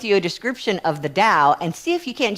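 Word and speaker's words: Tao: It's spelled T AO. Um and the Dao, when I looked at it, I realized that sounds like love.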